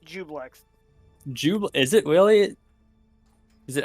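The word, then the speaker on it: Juiblex: Yeah, according to this, it's pronounced Jublex, which is weird because why is the I in there then?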